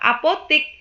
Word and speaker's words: apotek: Bacanya memang tetap apotik. Namun, penulisan kata apotik yang benar atau yang baku itu adalah apotek.